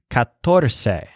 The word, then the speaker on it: catorce: The word for 14 is catorce, so the stress is on tor.